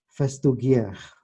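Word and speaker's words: Festugière: Saya salah mengutipnya, seharusnya di E-nya itu ada apa namanya yang kalau dibacanya, kalau bahasa Prancis itu kalau ada tanda itu bacanya adalah E ya. Kalau nggak ada itu nggak dibaca atau bahkan dibacanya schwa.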